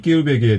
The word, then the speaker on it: 끼울배기: 자, 끼울배기 오늘 사투리 알아보고 있는데 눈치챈 분들도 있고 눈치 못챈 분들도 있겠지만 일단 정답과 함께 재미난 이 끼울배기에 대한 사연들 보내주시기 바랍니다.